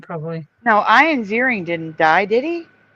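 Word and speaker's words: Ioan: did anyone else think his name was Ian for like the first couple years until they I heard them say his name and it was ion so weird ion jar yeah I thought I thought it was Ian because that's how you spell it Ian all right so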